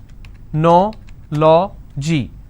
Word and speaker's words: technology: Technology. This is the ending. So I leave one, then I go to the next, and I pronounce this as technology.